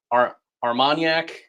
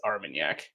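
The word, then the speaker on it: Armagnac: It's not Armanac, it's Armenyak.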